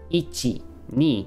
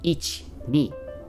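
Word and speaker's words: いちに: ichi knee you wouldn't i think in natural japanese it's more like each knee right you're you're kind of that let me pull this out here this is itsy right you're kind of really making that eye weak like you're really almost making it silent it's like each knee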